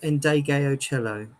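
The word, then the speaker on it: Ndegeocello: The way you pronounce her name is Endegayo Cello, Michelle Endegayo Cello.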